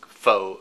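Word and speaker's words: phở: It's pho. Pho is a Vietnamese pronunciation.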